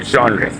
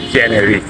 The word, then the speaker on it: genre: sound very much because even the people who speak English they use the French pronunciation and say genre okay but in English